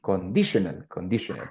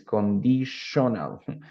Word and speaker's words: conditional: Conditional. Condicional. Listo, recuerden que la mezcla de sonidos T, I, O, N suena como shon. Shon. Ready? Entonces aquí es conditional.